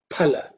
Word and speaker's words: phala: So I think the benefit of both, we should pronounce, as if it is Sanskrit, it should be pronounced phala. Okay, pa. The air should be felt.